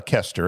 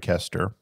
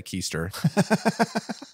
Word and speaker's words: Koester: in the fourth gospel and how do you pronounce the author's name i'm going to mess it up uh kester it's craig kester i don't want to say keister well you could i could say easter but